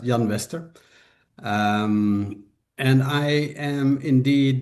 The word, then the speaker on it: Jan Wester: a Swedish name, so I can imagine that you pronounce it in the Swedish way, but in Dutch it's just Jan Wester.